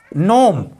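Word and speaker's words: gnome: जहां पर जी plus N हो वहां पर जी साइलेंट होता है। जैसे नाइट, नाइट मीन्स होता है मच्छर। नोम, नोम मीन्स होता है बौना या सुक्ति।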